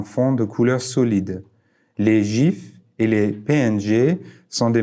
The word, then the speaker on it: GIF: d'après vous GIF ou GIF Steve ou allahet l'inventeur du gif a déclaré qu'il devait être prononcé gif comme la marque de beurre d'arachide plutôt qu'avec un songer dur quoi qu'il en soit